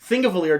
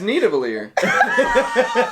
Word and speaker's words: Nidavellir: is just, there's no argument there, you're just pronouncing it differently. But his argument was Thingavalier was his reference point. Nidavellir does not The support...